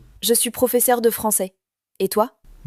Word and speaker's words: français: Et toi Nina, tu aimes la cuisine française ? Oui, j'adore les crêpes et les croissants. Attention à la prononciation. Croissant. Croissant. Français.